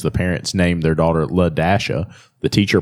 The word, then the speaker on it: Ladasha: The parents named their daughter Ladasha. The teacher pronounces the name like trying to figure it out. La. And so she's like, no, it's Ladasha.